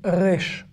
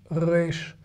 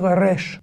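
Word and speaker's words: ריש: basse avec l'accent australien rech rech y'a pas de r roulés en hébreu c'est les israéliens d'origine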